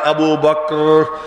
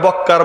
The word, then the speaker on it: আবু বকর: আর বলবো না এই নামটা একটু কষ্ট করে উচ্চারণ করতে হয় আবু বকর আবু বকর কয় হসন্ত রও হসন্ত আরবিতে ক কাফ এবং রা দুটাই সাকিন আবু বকর অনেকে ছেলেপেলের নাম